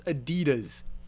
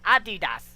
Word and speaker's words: adidas: leeway here but the the company calls themselves adidas that's how it's pronounced that's what it says adidas oh my god all